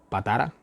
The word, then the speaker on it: Patara: Y bueno, bueno, después de todo esto, dice que zarparon de allí hasta Patara, así se pronuncia, bueno, nombres raritos.